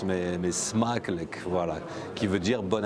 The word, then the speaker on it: Smakelijk: Donc Smakluk. Smakluk. Ça, c'est la bonne prononciation.